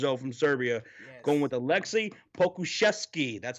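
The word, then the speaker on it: Aleksej Pokuševski: only 18 years old from serbia going with alexi pokuszewski that's how you say his name okay i'm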